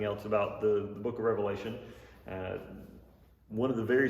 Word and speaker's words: Revelation: uh The Book of Revelation has been often misunderstood even its name is usually mispronounced I hear people say the Book of Revelations like I don't know